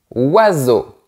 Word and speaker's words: oiseau: Le S entre deux voyelles se prononce comme un Z. EAU égale O. Et on ne prononce pas la lettre X à la fin. Donc, on prononce comme ça. Oiseau.